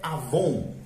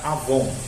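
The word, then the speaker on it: עָוֹן: de cosméticos mas é essa palavra Hebraica Avon AW o n Então não é V é w a ideia básica aqui só que se pronuncia ver essa palavra inclui tantas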